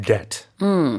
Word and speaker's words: debt: uh to pronounce that that b is silent so it's just debt right it's a it's